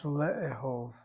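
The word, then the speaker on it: לאהוב: The aleph doesn't take a shvanah, replace it with a chataf sagol. That's your replacement. Lama comes along, shva cluster, and the lama takes over the sound of the chataf. So it's le'ehov, to love, le'ehov.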